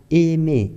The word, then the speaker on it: aimer: Por exemplo, quando temos encontro do A e I, a pronúncia é E. E. Então, essa se fala aimer, que significa amar.